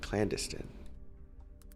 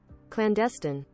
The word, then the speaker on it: clandestine: um double Clan landiston in this and clandestine and that's in pronounced it clandestine I said it right cool your boy is